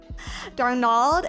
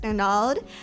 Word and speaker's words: Darnold: Darnald. It's pronounced Darnold.